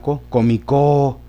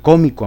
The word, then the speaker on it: cómico: O si lo pongo en la comicó, ¿va a venir el comicó a Morelia? No. En cambio, si le decimos, ¿va a venir el cómico a Morelia? Sería en la co, y a todas se